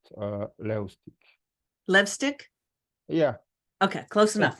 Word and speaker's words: Levstik: uh hi uh my last name would be pronounced uh Leti Leti yeah okay close enough right close enough